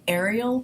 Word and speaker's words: aerial: The next type of perspective is called aerial perspective, and that's air like air. So, and it's spelled A-E-R-I-A-L, aerial perspective.